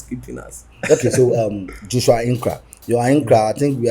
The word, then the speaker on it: Ahenkorah: Ahenkorah. Okay, right. So Joshua Ahenkorah. It's actually pronounced Ahenkorah.